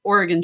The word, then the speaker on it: Oregon: not think like that there's no silent e at the end Oregon Trail and Arkansas